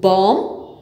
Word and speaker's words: bomb: Once again, bomb, climb, lamb, thumb, comb. See, it's easy to correct pronounce.